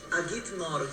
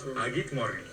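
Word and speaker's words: אַ גוט מאָרגן: Agit morgen. Agit morgen.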